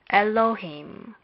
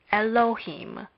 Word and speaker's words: Elohim: Hence, we would read this word as Elohim. Elohim. Elohim can be separated into the following syllables. First, Aleph is not pronounced, but we must remember that it is a consonant.